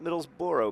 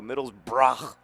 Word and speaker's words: Middlesbrough: taking on midd bro not middles Boro middles BR it's how they say it um and that's